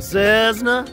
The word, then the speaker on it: Cessna: I got to fly a twin Cessna.